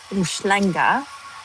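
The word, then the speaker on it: Umhlanga: I'm in uh it's a town or a village well more like a town seaside town called Llanga which is spelled uh u n h l a n g a.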